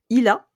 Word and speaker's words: Illa: Du coup c'est pour ça que tu as fondé ILA. C'est comme ça Mhm. qu'on prononce bien comme il faut. C'est tout à fait comme ça.